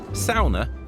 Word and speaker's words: sauna: drives us ever onwards sounder as the locals insist on pronouncing it it's the cornerstone of